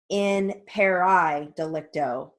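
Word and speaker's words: in pari delicto: or in perry delicto i also have heard it pronounced as in pair i delicto so it's kind of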